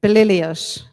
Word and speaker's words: Belilios: Now, he's one of my favorite guys, Belilios, that's how you pronounce it.